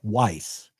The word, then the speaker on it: Wyss: Media Justice receives some funding from Han- Hans-Georg Average pronounced Weiss.